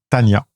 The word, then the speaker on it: Tonya: Même si ça s'écrit Tonya, ça se prononce en fait Tanya.